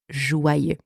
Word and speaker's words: joyeux: For English speakers, seeing the letters J-O-Y together, there is a tendency to want to pronounce this letter combination as joy, right? Fair enough. But in that word, the letters J-O-Y together are pronounced joie, joie, with wa, wa.